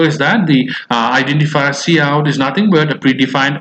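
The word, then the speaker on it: cout: of iOS stream right okay is pronounced at pronounced as C out okay right and it's predefined object that represents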